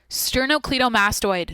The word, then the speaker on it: sternocleidomastoid: I said it wrong, but I was on track there. Yep, that's sternocleidomastoid, dude.